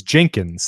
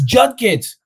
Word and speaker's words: Judkins: I'm like, it's Judkins. It's Judkins. Like, how do you not, it's not even spelled like Jenkins.